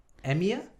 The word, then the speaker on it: EMEA: like to call them medical devices company in emir is that how you pronounce it yep what's the emea stand for